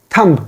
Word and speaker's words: thumb: it is Thum Thum B is silent here it is totally silent Thum now look at